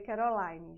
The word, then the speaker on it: Kerolinne: Instagram @prof Caroline Barbosa se escreve assim mesmo tá e se lê Caroline já tô acostumada Joga